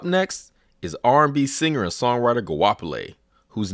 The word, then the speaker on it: Goapele: And really it's a family name, pronounced Goapele, which is even harder than.